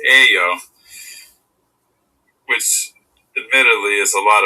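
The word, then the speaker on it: 예요: ayo becomes yayo, but when spoken, yayo is almost always pronounced ayo, which admittedly is a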